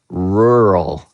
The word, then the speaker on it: rural: That's a that's a hard um word for people to pronounce. Even Even native English speakers get this word uh mixed up. They have a hard time pronouncing the word rural.